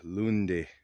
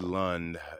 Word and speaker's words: Lunde: exact parking spot where David lundi um that's how it's pronounced it's not David lond it's specifically pronounced I think David lundi um